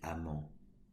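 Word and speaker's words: Hamant: C'est du moins ce qu'affirme le biologiste Olivier Amand. Amand s'écrit H-A-M-A-N-T, qui nomme ces rééquilibrages des déséquilibres naturels des fluctuations.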